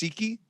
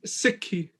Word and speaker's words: Sikhi: So it's Siki. Am I saying it right? It's Sikhi. Sikhi. Yeah. Sikhi? There you go. Is that right? Yep. Sikhi. Mm-hmm. Okay, cool. And I was messing up previously saying Sikh, so Sikhi.